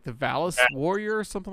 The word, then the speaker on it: Valis: David and Jesse both say Valis, which is correct. This is Valis, the Phantasm Soldier. And right before the show, my wife pointed out that this rhymes with phallus, so it may not